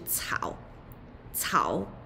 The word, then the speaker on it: 草: So, 草。这个是一个新的部首，这个部首草。Any character with 这个部首，usually its meaning related to 草，草 grass。So 这个部首 meaning grass or related to grass like 花。这个字，竹，竹，竹，竹，meaning bamboo.